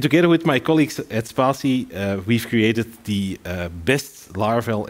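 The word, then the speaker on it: Spatie: I'm a developer at a company, and here's the pronunciation. Spassi.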